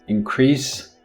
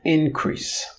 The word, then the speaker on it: increase: it becomes a verb if you put the stress on the first syllable it becomes a noun therefore the verb is increase the noun is increase but the discussion of